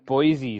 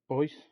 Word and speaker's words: Boise: Yeah, It's Boyce. it's Boise. That's how they pronounce it.